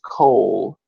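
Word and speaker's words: כל: And then we have the next word is kol, which Coal is a sound-alike word because coal is spelled differently, but there's a sound-alike.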